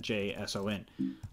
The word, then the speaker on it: JSON: so JSON like that JSON it's pronounced JSON almost like Jason without an a J Shawn okay so